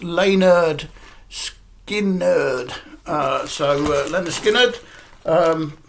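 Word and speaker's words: Lynyrd Skynyrd: to pronounce it yes it's pronounced Leonard skin nerd uh so Leonard Skinner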